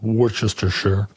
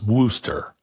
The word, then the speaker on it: Worcestershire: it is not pronounced Worcestershire sauce. The shire isn't even pronounced at all, and ultimately it's Worcester sauce.